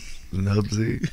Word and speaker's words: Knubsie: How you pronounce it for real? Noobsy. Oh no, it's oh, Noobsy now. Even what it is. Like, Noobsy. It's Noobsy now.